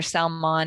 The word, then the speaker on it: Salmon: Salmon, it's spelled like Sam, like Salmon.